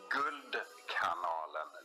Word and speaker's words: Guldkanalen: Yeah, I say it in Sweden, it's hard for the English listeners, but it's Guldkanalen.